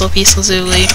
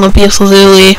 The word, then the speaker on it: lapis lazuli: I know everyone has their own pronunciation of that. Some people call it lupus, lapis, lapis. My pronunciation is lapis lazuli.